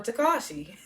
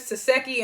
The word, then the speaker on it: Taseki: because I was like I don't want to mispronounce her name and call her Takashi so her name is taseki and she's croissant because